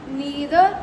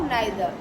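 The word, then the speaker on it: neither: इदर भी कही पबो both द pronunciation and right so यू कैन से इट यू can pronounce it ऐज़ इदर और आइदर नीदर और नाइदर तो तुमको जोड़ा भगबो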